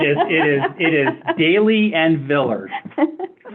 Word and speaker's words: Daly: I am here to report on how Marcus Daly and Henry Billard pronounced their names and it is Daly and Villard let the record show.